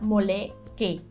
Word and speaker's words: moleque: Entonces diríamos así como, por ejemplo, niño o chico, la palabra moleque. Pero fíjate, nuevamente, la terminología es E al final y se pronuncia como E, no como I.